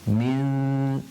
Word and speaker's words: مِن: We kind of are waiting on the makhaarij of the sheen, which is the middle of the tongue, before we pronounce it. Min. So I'm just waiting to say the sheen.